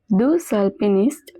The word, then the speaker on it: deux alpinistes: Deux alpinistes sont bloqués dans une tempête de neige. Over here there is a liaison between deux and alpiniste, so the X at the end is also pronounced. Deux alpinistes.